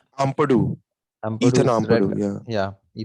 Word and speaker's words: Ampadu: Ampadu, Ethan Ampadu's red.